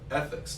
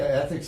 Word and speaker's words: ETHIX: But that's what I'm excited about with ethics, to kind of transition this for a second.